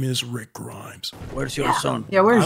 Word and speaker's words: Grimes: name rick listen rick grimes freaking no it's grimes not grime this this man is